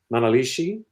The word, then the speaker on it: Manalishi: of course, Hellbent for Leather, the green Manalishi.